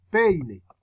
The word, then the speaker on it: peine: Peine. La fuerza está en la E. Peine. Ya uno hace P y el P y INE es más suave.